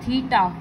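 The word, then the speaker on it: θ: तरह से ड्रॉ करते हैं, ठीक है, और प्रोनाउंस करते हैं थीटा।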